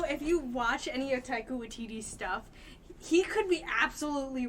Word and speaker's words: Taika Waititi: But apparently in some of the interviews that is it Taika Waititi?